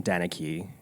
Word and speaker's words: Deneke: It came out in 2017, directed by Jameson Brooks, about Brian Deneke. Deneke.